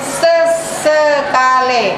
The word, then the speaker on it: sesekale: Tauna ompori sesekale, itu huruf E juga, tapi nyebutnya sesekale. Ya, sesekale. Belakangnya huruf E-nya E.